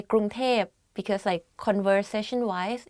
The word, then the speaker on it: กรุงเทพ: กรุงเทพมหานคร Bangkok กรุงเทพมหานคร If you go to Thailand and you hear people talk about Bangkok, they will say กรุงเทพ because conversation wise it's easier to pronounce like that กรุงเทพ but a longer name